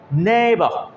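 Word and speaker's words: neighbour: যদি ই আই এর পরে জি এইচ থাকে, এরকম অনেকগুলো শব্দ আছে যেখানে জি এইচ টোটালি সাইলেন্ট ভূমিকা পালন করে, কোনো রকমের এখানে তারা উচ্চারণ হয় না, কেমন আমরা জি ফর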